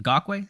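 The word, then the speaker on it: Ngakoue: Ngakwe, it's not hard to say, but he just can't play the run.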